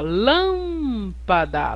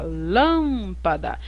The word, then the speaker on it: lâmpada: Olha a palavra lâmpada a pronúncia mais forte tá aqui ó lâmpada lâmpada então a sílaba tônica